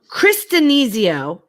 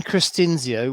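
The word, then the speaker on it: Christinzio: I'm going to try and pronounce his name. His name is Brian Cristinizio, I believe. Cristinzio. See, I said it wrong. Brian Cristinzio, which is, I don't think you're the first person to have trouble with that.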